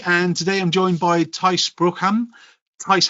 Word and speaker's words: Thijs: I think only in the Netherlands people would say it correctly, but it's THIJS.